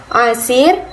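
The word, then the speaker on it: عسير: Nah, perhatikan ya teman-teman, di sini ada dua kata yang pengucapannya itu mirip, asir dan yasir. Nah, perbedaannya adalah kata pertama ini menggunakan ain dan kata kedua ini menggunakan huruf ya.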